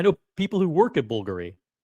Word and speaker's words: Bulgari: I know people who work at Bulgary. It's Bulgar. It's not Bulgari. Bulgari.